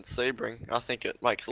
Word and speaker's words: Sebring: you guys know not real far away from Sebring and I've heard locals that live there because